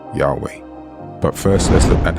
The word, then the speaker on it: Yahweh: from these two names the best pronunciation using the Hebrew letters is definitely Yahweh but first let's look